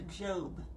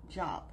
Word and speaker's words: Job: look at the Book of Job yes it's pronounced a job not job if you look at the Book of Job